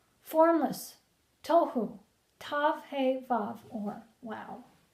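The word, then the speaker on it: תהו: Formless, tohu, tav, hey, vav, or wow. To pronounce the word, we have to actually dissect the individual letters. Tav becomes to, hey becomes ho, vav or wow becomes w. Tohu.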